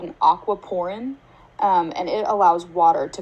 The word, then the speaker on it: aquaporin: it's spelled a-q-u-a-p-o-r-i-n so it's almost like the words aqua and um a pore like what you have on your face so basically it allows